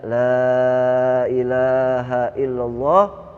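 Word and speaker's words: لا إله إلا الله: Dan baca la ilaha illallah Muhammadur Rasulullah 100 kali. Tapi bacanya pelan-pelan. La ilaha illallah. Ha sama illanya jangan dilepas.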